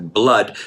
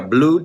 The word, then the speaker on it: blood: Fluir, otra vez, blood. No se pronuncia blood, sino blood. And your lungs, tus pulmones, fill with fresh air.